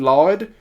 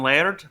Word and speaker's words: Laird: And last but not least, we have Damon Lord, played by the Hawk Abridged. I don't know if I gotta stop it right there. Actually, it's pronounced Damon Laird.